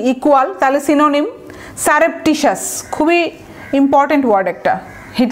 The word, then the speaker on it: surreptitious: স্টেলথের দেখেন সিনোনিম আবার adjective, legend হচ্ছে কি ইকুয়াল, তাহলে সিনোনিম সারেপটিশাস, খুবই ইম্পর্ট্যান্ট ওয়ার্ড, একটা হিট লিস্টে থাকবে এবং কঠিন একটা ওয়ার্ড, হ্যাঁ, সারেপটিশাস, SURREPTITIOUS, সারেপটিশাস, ভেঙে ভেঙে উচ্চারণ করবেন, ভুল হবে না, সারেপটিশাস, TIOUS, সারেপটিশাস।